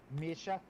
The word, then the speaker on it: Misha: I've been pronouncing it either Misha or Misha because I genuinely don't know how to pronounce it. No, you must pronounce it with Russian. Misha. Misha? Misha, yes, good.